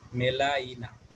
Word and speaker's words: melaena: মেলানা বানানো হচ্ছে MELAENA, মেলাইনা, মানে উচ্চারণ যদি আমরা এভাবে করি।